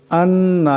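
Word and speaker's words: أنّ: আন্না, এখানে নুন মুসাদ্দাদ, এখানে নুন মুসাদ্দাদের একারের পরিমাণ গুণনা করিয়া পড়তে হবে।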